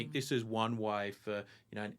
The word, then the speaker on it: ISO: It's ISO.